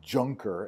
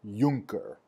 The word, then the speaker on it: Junker: So if you don't speak German, or if you're unfamiliar with the German language, the letter J is pronounced like our Ys. So this word is not pronounced Junker, it's pronounced Junker.